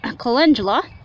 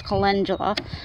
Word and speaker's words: calendula: there's the bachelor varta calendula or calendula that's how I used to always pronounce it until somebody told me it's calendula anyways this is one jug